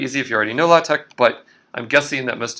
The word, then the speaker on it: LaTeX: it's spelled um so this word right here which is exactly the same spelling as latex in the sense of that rubbery stuff is pronounced la tech in the context of